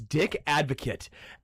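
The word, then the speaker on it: Dick Advocaat: I would pronounce it Dick Advocate. It is Dick Advocate.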